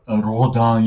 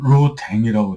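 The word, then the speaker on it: Rodin: 그래서 가령 뭐이 조각가 중에 로당이 있는데 그거를 로댕이라고 쓰고 그다음에 뭐 대상 같은 것도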